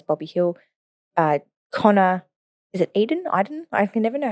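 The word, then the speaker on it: Idun: Smith, Zach Butters, Bobby Hill, Connor, is it Eden? I can never know how to pronounce that fellow's surname from GWS, my bad. And James Rowbottom. Iden, yeah.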